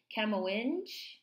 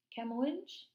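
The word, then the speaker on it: Kamoinge: her and invite her to i hope i'm pronouncing this right camo whinge camowench como lynch k-a-m-o-i-n-g-e a harlem-based black photographer's group created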